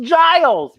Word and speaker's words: Giles: So the next day, we went to school and asked the librarian, Giles, for help. As Xander says, it rhymes with Miles. And then Willow says, it's pronounced Giles, but it's spelled with a G.